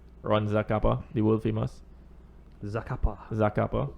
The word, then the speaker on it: Zacapa: This Botran is from the same distillery as the Ron Zacapa, the world famous Zacapa. So apparently it's I believe it's pronounced Sakapa. distilled 7,000 miles or something.